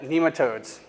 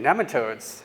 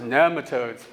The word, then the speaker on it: nematodes: to George Debs, for years I called it nematodes. And then all of a sudden I started realizing Dr. Elaine Ingham, she's pronouncing it nematodes, and I've been pronouncing it wrong.